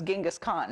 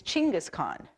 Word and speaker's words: Chinggis Khaan: a lot everybody knows Genghis Khan right okay no we don't that's not his name we all have been saying it wrong it's chinggis do I say right Lauren it's Chinggis Khaan you know so we